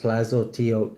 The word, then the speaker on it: Tlazolteotl: Tlazolteotl, pronounced Tlazolteotl, is a Mesoamerican earth mother of the Aztecs and Huastic and indigenous Mexican people, a patroness of midwives.